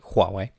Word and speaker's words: Huawei: are going to be talking about Huawei that is the correct pronunciation by the way Huawei 5g the race for